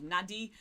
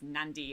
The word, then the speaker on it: Nadi: it i know uh the spelling is nadi so a lot of people think it's called nadi but you do pronounce it in fiji as nandi and then there's us